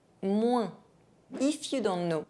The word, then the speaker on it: moins: If the letter OI are followed by N, they can be pronounced ouin. Moi, moins.